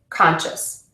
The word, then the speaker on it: conscious: You stress the syllable before the suffix in words ending in ik, shun, or us. Graphic, discussion, conscious.